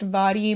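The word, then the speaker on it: Mhairi: Next up, I have If I Never Met You by, I think her name is pronounced Vadi McFarlane.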